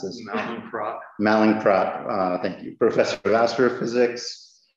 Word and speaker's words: Mallinckrodt: He was poached and moved to Harvard in 1998, where he's now the I have no idea properly how to pronounce this. Mallinckrodt. Mallinckrodt, thank you.